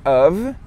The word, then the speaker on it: of: E depois você pega esse of. A pronúncia é of. Com som de V. Não, a pronúncia é V. Mas tem um F. É V. A pronúncia é V, beleza?